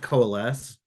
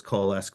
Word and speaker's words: Coalesce: um in uh and it's pronounced coals with there's not a hard k on it um on our name it's okay everyone calls us KES we have been joking